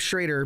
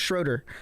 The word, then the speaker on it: Schrader: Like my last name's Schrader, but a lot of people pronounce, even with the R-A-D-E-R, they're like, no, that's pronounced Schroeder.